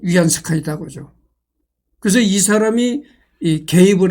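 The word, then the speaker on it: 袁世凱: 유한 스카이가이 사람이 한문 발음으로 원세인데 중국 발음물은 위안 세카이다죠.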